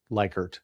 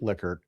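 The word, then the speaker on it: Likert: And Rensus Lickert, not Lyert, it's pronounced Lickard, developed a scale that we're all very familiar with, and that's the Lickard scale.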